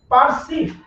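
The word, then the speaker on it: perceive: কনসিভ, পারসিভ, পিইআর, CEIVE, পারসিভ, এই যে পারসিভ, এই সি এর উচ্চারণটা হবে এস এর মতো।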